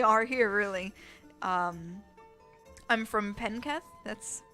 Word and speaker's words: Penketh: I'm from Penketh.